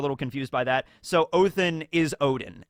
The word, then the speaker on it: Odin: So Odin is Odin. It's just, I think the way that you correctly pronounce Odin in Old Norse is Othin.